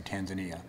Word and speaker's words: Tanzania: in the first place I went to Tanzania or as we pronounce it in this country Tanzania in 2006 as uh